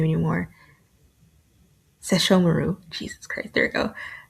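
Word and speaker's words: Sesshomaru: Sashomaru. Jesus Christ. There we go. So if I don't think about it, I can say it perfect. Sashomaru.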